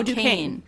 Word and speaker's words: Duquesne: Covenant pronunciation. Right. Duquesne? Oh, Duquesne.